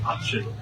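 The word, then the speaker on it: aiteann: So that will be happening right after the fall edition of the option. And if you ever wondered how to pronounce that, it is option, option, option.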